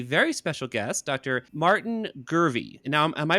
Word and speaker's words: Gurvey: we have a very special guest Dr Martin gurvey and now am I pronouncing that right it's gurvy that's correct awesome and Dr gervy is a